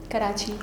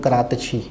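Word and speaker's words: Karachi: अब मिसाल के तौर पर कराची बोलें आप, कराची अरबी में कैसे बोलते हैं? अरबी ज़बान में कराची को करातची, तो कराची तो कराची है अपनी जगह, हाँ। उन्होंने अपनी प्रोनाउंसिएशन अदा की करातशी।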